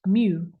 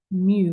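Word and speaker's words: μ: in half we use the Greek letter pronounced mu I know like a cat right mu whenever I see that I always think of meow okay why am I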